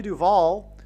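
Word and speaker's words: Duvall: And so, uh, Shelley Duval, uh, uh, her name rhymes with Hall.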